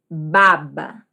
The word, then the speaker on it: baba: Então, a pronúncia da primeira é baba.